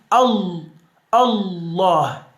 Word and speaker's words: الله: y en la segunda se pone lo que se llama la shadda para pronunciar esa letra así, Allah, ¿no? Dando un refuerzo de la pronunciación sobre esta palabra que es la L.